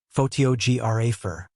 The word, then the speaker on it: photographer: For example, the word photograph is stressed on the first syllable, photraph, but photographer is stressed on the second syllable, photographer.